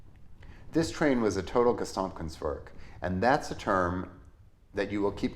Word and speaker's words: Gesamtkunstwerk: It's a long German word, so let's learn how to say it with the help of an online pronunciator. Gesamtkunstwerk. Gesamtkunstwerk.